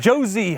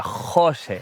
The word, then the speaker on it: José: those rocks so from merida to hermeda josie hermida former world cross country champion let me correct you you are in spain catalonia jose jose excited okay the pronunciation of the name